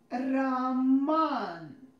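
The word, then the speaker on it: Роман: O is unstressed here and it represents a sound. So I pronounce this name like Raman, Raman. But when we make a short name, O becomes stressed, and a short version is Roman.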